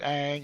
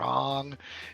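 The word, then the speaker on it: Aang: with the pronunciation of the main character's name, was it Ang or Ong? And I finally said, "You're both wrong. It's Ang." I feel like if you're gonna spell it with two A's, it should be Ong.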